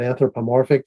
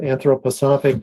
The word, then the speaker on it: anthroposophic: would call it anthroposophic sometimes I call it anthropomorphic just so people can pronounce it easier but anthroposophic that goes back to